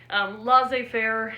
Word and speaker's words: laissez-faire: see how it's spelled because in French they leave out the last letters of both words the form of government